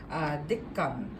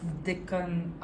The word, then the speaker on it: Deccan: So this is Deccan, I think that's how it's pronounced.